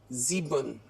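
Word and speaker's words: sieben: The next is 7 इज सीबन. एस आई आया है इसमें, इसलिए इसमें भी वॉल है एस के साथ, इसलिए इसको भी हम क्या पढ़ेंगे, जी, तो जीबन.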